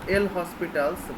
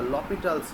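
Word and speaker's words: L'Hôpital: the cardinality difference so l hospitals but that is not the air hospitals we have to utter or pronounce the lopital's rule the lopital's rule is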